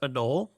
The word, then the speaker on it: anole: Is it just pronounced anole?